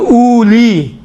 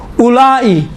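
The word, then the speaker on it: أولئك: الفاظ ہیں جہاں پر واو لکھا ہوا ہے لیکن پڑھا نہیں جاتا ہے، انہی میں سے ایک اولئک ہے۔ اب دیکھیں اولی، اب یسرن القرآن پڑھاتا وقت کیا الف واو پیش او لام یا ذلی، میں نے خود سنا ہے اولی، بابا اولی ہے، واو نہیں پڑھا جاتا ہے، یہاں سائلنٹ ہوتا ہے اولی۔ اولائی، اولائی لکھا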